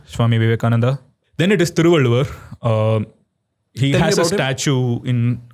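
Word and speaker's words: Thiruvalluvar: How old is Thrualu?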